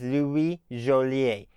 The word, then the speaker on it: Joliet: And as I understand it, his name should be pronounced in French as Louis Joliet.